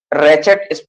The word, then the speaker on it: ratchet: हैं simple, simple रेटेज, RAT CHET, रेचेट, pronounce रेचेट करेंगे, RAT CHET, silent होगा, रेचेट and liver principal, and liver.